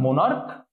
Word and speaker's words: monarch: This one, monarch, monarchs. What will be the last one? Stomach. You see, the CH is pronounced like K or Bangla Ko.